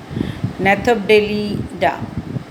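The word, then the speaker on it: Gnathobdellida: G is silent here. Nathopdelida.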